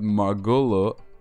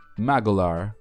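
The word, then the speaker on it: Magolor: Along with Margolo. Let me see. How do I pronounce his name again? Magolar, okay, Magolar, from Kirby's Return to Dreamland.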